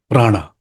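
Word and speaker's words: प्राण: so let's start with Prana what is Prana Prana is Sanskrit word which is made of two words PR plus an in Sanskrit we don't call it Prana but we call it pran pran so all the forms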